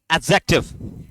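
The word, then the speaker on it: adjective: अरे इसको बोलो एडजेक्टिव क्या बोलोगे क्योंकि इसमें साइलेंट क्या रहता है बताओ आपका डी साइलेंट रहता है एक और बोलो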